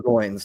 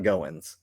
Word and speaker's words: Goins: It is Parker Goins, not Goins.